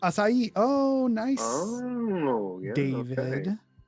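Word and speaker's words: açaí: A fruit whose name is pronounced in 3 syllables. A fruit. Don't know that. Acai. Acai.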